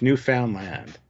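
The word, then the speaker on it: Newfoundland: named for Finland to be new no it's new found Land There we go see I wonder new New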